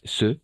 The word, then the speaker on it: ces: Et finalement, ici, on va prononcer C. D'accord? E ouvert et abierta.